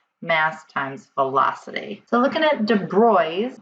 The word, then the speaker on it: de Broglie: velocity so looking at De bry's or Lou de Bry not de brogle but it looks like